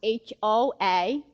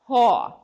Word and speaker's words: Hoa: My name is Hoa, and everybody's thing is Hoa is H-O-A, but people think it's W-A, that is awesome, because that's how you pronounce it, that Hoa.